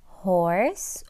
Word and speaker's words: horse: okay so we have horse o and the E is silent then we have all